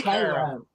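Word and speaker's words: Karo: Caro. How does everybody on panel, how do you say the word? K-A-R-O syrup. Caro. Hard pass. We're from the South. It's Cairo.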